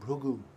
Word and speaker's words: Bhrigu: And the example is given here of Bhrigu. In Telugu you'll say Bhrugu, is it? Pronounce it a little differently.